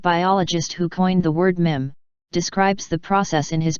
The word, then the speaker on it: meme: gene the basic unit of mimtix is the mim rhymes with equipment however unlike an atom or electron